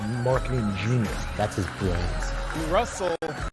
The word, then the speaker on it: Russell: genius that's his bra Russell rhymes with funnel how to Market how